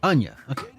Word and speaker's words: Anya: is fire oh I did say it right Anya yeah it is Ana see I should probably